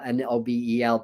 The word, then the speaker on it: Nobel: According to Steve Noble or Steve Nobel, well, he pronounces his name Steve Nobel, Nobel, but I think it's pronounced Noble.